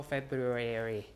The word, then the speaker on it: February: One R is gone because when you pronounce two Rs together, perhaps almost back to back in a row, uh it's hard to do. So February, right? So people drop one R and just say February like that because there are two Rs here.